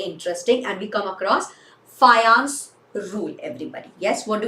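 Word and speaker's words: Fajans: His name is not pronounced as Fajan. It is pronounced as Fayons, everybody.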